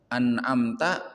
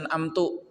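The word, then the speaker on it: أنعمت: Contoh an'amta bacanya an'amtu. Ini jelas merubah makna. Anamta itu artinya engkau berikan nikmat. Sedangkan an'amtu aku berikan nikmat.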